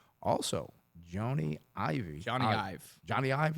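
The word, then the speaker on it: Jony Ive: Johnny Ive. Is that? That's how you say it.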